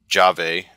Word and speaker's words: JavE: you need a utility called jave I think that's how it's pronounced it's j a v